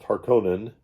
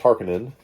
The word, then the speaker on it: Harkonnen: never played the harkonnen which i for years and years pronounced harkonnen which is not right apparently it's harkening i'll never play the